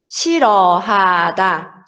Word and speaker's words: 싫어하다: Aqui o 실 tem 리을, 히읗 받침. Mesma coisa, a gente não vai pronunciar o som de rian, tá? Então vai ser 실, 싫어하다, 싫어하다.